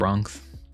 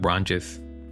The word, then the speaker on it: Wrongjis: Good job, Wrongs. I think I've been saying his name wrong. Wrongjis. Good job, Wrongjis.